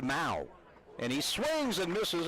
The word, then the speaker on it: Mow: by pereira and barth mal as in cow m-o-w you don't mow the lawn you mow the lawn but it's pronounced mao and he swings and